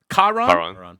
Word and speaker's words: Kiran: But because of Karan, Kiron, I don't know how to pronounce it. I was getting cooked my whole watch party. Do any of you know which one is it? Kiran. Kiran. Okay.